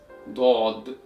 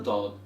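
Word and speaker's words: ضاد: And the way you pronounce this letter is by bringing the sides of your tongue to be pressed against the top roof of your mouth, while having the tip of your tongue touching right behind the area of your front upper teeth.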